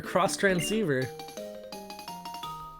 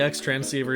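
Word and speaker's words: Xtransceiver: us the x transceiver i used to call it the x transceiver even though she literally says what it's supposed to be pronounced as in the sentence right before giving it you're going to thank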